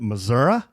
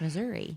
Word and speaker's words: Missouri: were joking around and calling it Missoura. And I had several people from the Show-Me State email us and say, "No, that's not how you pronounce that." It's Missouri.